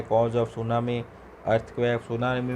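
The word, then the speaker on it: tsunami: सुनामी में T silent रहता है दोस्तों।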